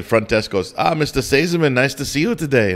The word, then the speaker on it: Seesemann: whatever little town we were in you can't pronounce it and and the the front desk goes ah mr saziman nice to see you today and i went